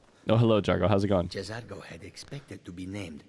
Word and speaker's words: Jazargo: He says Jazargo. I just say Jargo, which I don't think is right. I think he just said Jazargo. Like fully two distinct letters there.